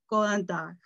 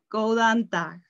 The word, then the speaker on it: góðan dag: Then we say, Góðan dag. You can mute your and try to say it. Góðan dag. Góðan dag.